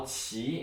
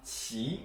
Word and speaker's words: 棋: But just remember it's pronounced qi, qi.